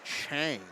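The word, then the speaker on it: Tsaur: And his last name was spelled T-S-A-U-R, but it was pronounced Chang.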